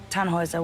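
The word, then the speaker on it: Tannhauser: why what's your name tanhauser we'd pronounce it taner with an um German Roots yes my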